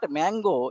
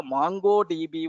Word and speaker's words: MongoDB: It is not Mango. It is the MongoDB only by mistake. Because mango is more popular than mango, that's why the people are using mango. Okay, even sometimes I pronounce it as mango also earlier, but now it is mongodb.